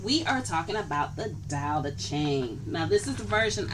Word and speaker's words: Tao Te Ching: It's actually TE, but the T is actually pronounced as a D, so it's the Tao Te Ching.